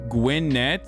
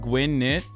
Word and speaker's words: Gwinnett: It's pronounced Gwinnett, not Gwinnett.